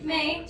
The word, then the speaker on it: Mae: Mae.